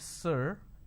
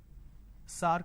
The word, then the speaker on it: sir: changes of this word majority of the people pronounce the word sir as SAR can you please answer my question so instead of saying sir they say SAR so this is a pronunciation mistake now how do we identify it's a pronunciation mistake instead of a vowel sound ER they end up using a vowel sound ah another example the word